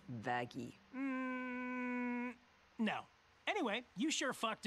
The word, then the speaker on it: Vaggie: Vaggie. Actually, it's pronounced Vaggy.